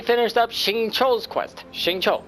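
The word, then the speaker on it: Xingqiu: up Shing Cho's Quest shincho gotta remember that that is how they pronounce it in this game and I think my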